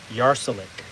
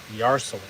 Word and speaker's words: Yarsulik: Yarsulik. Yarsulik. Emphasis on the Yar. Yar! Like a pirate.